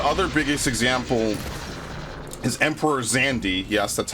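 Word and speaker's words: Xande: The other biggest example is Emperor Zandi. Yes, that's how it's pronounced from according to Final Fantasy 14.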